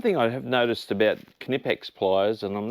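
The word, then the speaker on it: Knipex: on for canipex tools yes it is pronounced canipex and this week we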